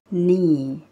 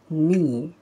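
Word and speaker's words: knee: الركبة اسمها ني ني ني. واخدين بالنا شايفين هي أصلا بنكتبها إزاي؟ أولها letter K، بس letter K ده مش بننطقه، بننطق من أول N بس، فيبقى اسمها ني ني.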